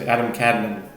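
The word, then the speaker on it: Adam Kadmon: And um now this opening 31 starts a new subject in the book of Adam Kadbone and and the anglicized way of pronouncing as Adam Cadman.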